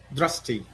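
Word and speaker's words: दृष्टि: Do you do you pronounce it drasti or dristi? Dusti. Dusti. Okay.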